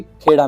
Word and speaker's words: खेड़ा: खेड़ा को इंग्लिश में कायरा भी कहा जाता है, तो आपको कई लोग नहीं इसको खेड़ा को कायरा भी कहते सुनाई देंगे, पर हम इसको खेड़ा ही प्रोनाउंस करेंगे।